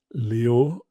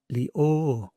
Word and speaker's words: Leo: ch, but sh and not le, but leo.